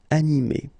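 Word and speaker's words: animée: So masculine form, animé, and then the feminine form, animé. Okay, you don't pronounce this e, but then you should write it.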